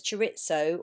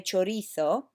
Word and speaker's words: chorizo: English people tend to pronounce it as chorizo or chorizo, but Spanish would say chorizo.